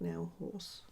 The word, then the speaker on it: Nail Hause: is a haul from nail house but I think it's like pronounced like nail horse like nail house you know like Burger House which if you don't